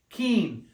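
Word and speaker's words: quince: TR TR 13 14 15 Keen like I'm keen on that idea say say Keen say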